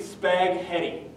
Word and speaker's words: spaghetti: uh that is obviously spaghetti you don't pronounce the h in spaghetti stephen boy oh boy